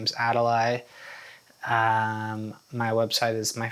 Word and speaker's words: Adali: find me uh online on Instagram my Instagram is spelled a d vli my name is Adel um my website is my first and last name. Adel s c h l l um yeah